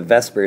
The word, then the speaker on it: VSEPR: have to know what Vesper stands for I know it's spelled like vper but it's so much easier to say Vesper so that's what I say each time here's what they stand